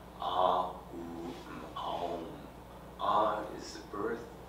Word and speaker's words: Aum: Aum is the four syllable element, is the four element syllable, A is the birth. U is of coming into being, and mm is the dissolution. Ah, oom.